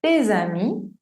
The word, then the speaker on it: tes amis: Por ejemplo, mon ami, no mon ami, sino mon ami, tes amis, suena como z, tes amis y ses enfants.